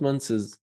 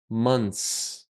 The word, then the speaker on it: months: Yeah, because a lot of students, when they add the s, they add another sound before the s. Months. No, not months. Months. Yeah? I know that the singular word is month, but the plural word is not months. You change everything.